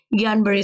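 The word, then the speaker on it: Guillain-Barré: है नाम है आपका ये स्पेलिंग आपका ऐसा बट इट प्रोनाउंसड एज ज्ञान बरे सिंड्रोम ओके तो ये क्या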